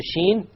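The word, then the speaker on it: ش: Ja, sha, ya. You use the entire middle portion of the tongue. Notice the sheen, the same middle portion, sha.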